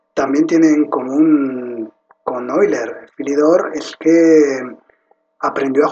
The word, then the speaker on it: Euler: la ruta del caballo oiler mismo porque se pronuncia eiler Aunque lo veas escrito de otra forma eiler mismo Comenta lo siguiente